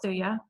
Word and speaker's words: Thuja: That's how it's spelled, Thuja, occidentalis, and that it's just, we call it Thuja, Thuja.